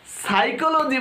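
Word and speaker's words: psychology: English পড়া তো আমি সেদিন ছেড়ে দিয়েছিলাম যেদিন আমি প্রথম টেরিডোফাইটা বানানটা লিখতে গিয়ে টি লিখেছিলাম। পরবর্তীতে জানি যে টেরিডোফাইটার প্রথম অক্ষরটা পি দিয়ে শুরু। আশ্চর্য, সাইকোলজি বানান আমি এস দিয়ে লিখেছিলাম, কিন্তু প্রথম অক্ষরটা ছিল পি, পি দিয়ে শুরু সাইকোলজি।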